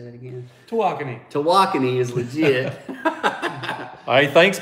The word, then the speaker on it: Tawakoni: Tawakoni.